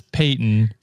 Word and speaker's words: Paightynnn: And then she would pronounce it as Peyton, Payton.